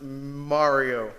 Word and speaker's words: Mario: mario i is that your name yes it's pronounced mario like you said first time yeah a video